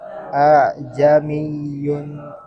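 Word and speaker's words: أأعجمي: Ya, bacanya bukan bacanya bukan aa, ya, tapi ditashil. Jadi hamzah yang kedua itu bacanya bukan hilang, tapi bacanya tidak full.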